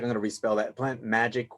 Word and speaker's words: PlantMagyk: Plant Magic, where the magic is MAGYK.